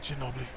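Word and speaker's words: Ginóbili: Ginobili.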